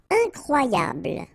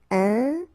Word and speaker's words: incroyable: Incroyable. Okay, same thing here for the final E. Don't pronounce it. So, incroyable.